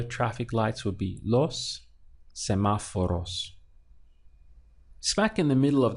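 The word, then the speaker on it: semáforos: would be semaphore OHS semaphore us so the accent is important in the middle of the word for correct pronunciation sama for us so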